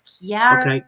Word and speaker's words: Chiara: they pronounce my name, they think of the CH as a ch sound. But okay. I am from an Italian background, so it's a K sound. It's Chiara. Chiara.